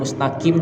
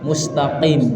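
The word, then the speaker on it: مستقيم: Jadi bukan mustaqim tapi mustaqim ya q di sini ihdinatal mustaqim sekali lagi ihdinatal mustaqim i ini dia halqi dia ditenggorokan makhrijul huruf huruf ini ditenggorokkan kalau ka dia di ujung pangkal lidah ka.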